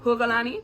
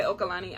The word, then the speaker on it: Hokalani: My name is Hokalani, pronounced Hokalani, but you can say Okalani. I don't really care.